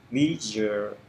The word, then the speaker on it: visual: Cái âm s này nó thường, s này nó thường biến đổi thành z.